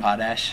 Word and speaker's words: Potash: Potash. Potash. I've been saying Potash, but it's Potash.